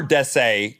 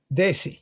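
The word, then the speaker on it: desi: in the population or Des Des is he saying it right Des daisy daisy daisy yeah Daisy simply means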